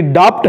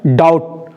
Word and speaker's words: doubt: आप प्रोनाउंसिएशन में पढ़ रहे होंगे, आपको लग रहा होगा कि डाप्ट है, लेकिन वो डाप्ट नहीं है, उसका प्रोनाउंसिएशन होता है डाउट।